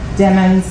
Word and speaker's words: Demons: And remember, Demons like rhymes with lemons.